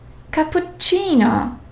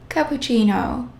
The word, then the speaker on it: cappuccino: Whenever you see the double letters, make sure that you pronounce both letters, such as lettere, caffè, double F, so I have to pronounce both.